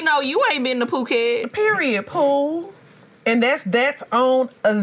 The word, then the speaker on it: Phuket: I'm like, that's how you say it. It is Phuket. I thought it was fucky.